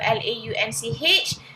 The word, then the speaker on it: launch: product launch okay so l-a-u-n-c-h please know it's launch launch is different Lounge is different lunch is different different pronunciations on speaker